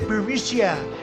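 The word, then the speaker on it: Burisma: the burmese executives so this uh buremicia burmesia they say pronounce it borisia a real beautiful company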